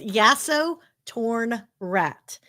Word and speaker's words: Yasotornra: yeah, no, it's Yasotornrat. It's spelled phonetically, so if you just break it Oh, up into see, I was pieces, trying to it's complicate it.